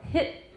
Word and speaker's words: hit: But in running speech, we usually use a glottal stop if a T comes right before a consonant in another syllable. So hit me, hit 就是舌